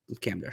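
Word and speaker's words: Kamdesh: uh camish so how you say it yep camish yep um so like like I said for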